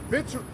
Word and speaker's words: victuals: This second Ezra 16-21, it says, behold, victuals, I'm trying to say it right. It's actually, the C is actually silent. That's right, victuals.